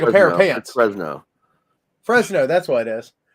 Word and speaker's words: Fresno: that for um out in California San Francisco Fresco uh Fresco yeah hold on that yeah the Fresco creeper and it looks like a pair of pants Fresno Fresno that's what it is I knew I